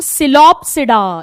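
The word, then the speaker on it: Psilopsida: पहली क्लास का नाम लिखो सिलोप्सिडा, इसमें पी साइलेंट है, सिलोप्सिडा लिखिए, सिलोप्सिडा, सिलोप्सिडा।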